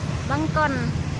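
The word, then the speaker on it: បង្គន់: Bangkon.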